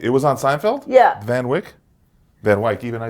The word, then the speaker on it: Van Wyck: It's the Van Wyck. Oh. It's Wyck. And how Right? did they say it on Seinfeld when they used that road? Wait, it was on Seinfeld? Yeah. Van Wyck?